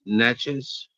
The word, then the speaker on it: Natchez: It's Natchez.